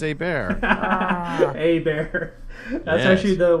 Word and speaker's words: Hebert: Kyle uh habert right haybert Hebert not even close he bear no no no not even not even hay bear it's h is silent E is like an a a bear a bear a bear